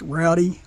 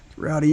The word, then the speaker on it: Roddy: today we have um I think you pronounce this Rowdy r o d d y Rowdy engineered I'm pretty sure